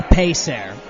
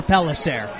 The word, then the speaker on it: Pellicer: gone you definitely need to go visit diego pelissar hello damn it you can say it any way you want of course the harvard kids so when we first opened it was pronounced diego payser two else p-e-l-l-i-c-e-r so the correct pronunciation was